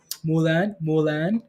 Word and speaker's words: Milan: Mulan. It's spelled Milan, but pronounced Mulan.